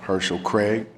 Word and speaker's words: Herschel Craig: His name is spelled like Hearsel, H-E-A-R-C-E-L, Herschel Craig.